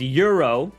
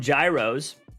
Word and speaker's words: gyro: like oh I wanna they say the proper way to pronounce it is Euro but you know in America we call them Gyros uh because that's the